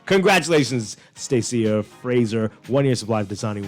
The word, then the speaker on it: Stacia: The winner for this, I hope I pronounced this right, Stacia Fraser. Stacia. That's how you say it? Yeah.